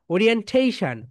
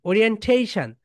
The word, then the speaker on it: orientation: ওকে, এটা right pronunciation বলো ওরিয়েন্টেশন, এই তো ঠা ঠা ঠা, এখানে স্টেজ দিতে হয়। ওরিয়েন্টেশন, ওরিয়েন্টেশন।